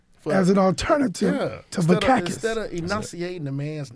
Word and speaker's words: Vakakes: Vakakes. Yeah. It's spelled like it sounds, though, actually. Yeah, It's so like, I'm like a cactus without the T.